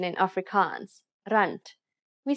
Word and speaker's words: rand: South African rand please pay attention to the pronunciation in Africans rant we say rant for General conversations the term Z is very